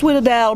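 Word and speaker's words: sfogliatella: I got a coffee and a Sweetadel. It's pronounced Sweetadel, but you actually spell it this way.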